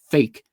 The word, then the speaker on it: PHEIC: don't know about you, I'll pronounce that acronym fake because I think that's probably what it is.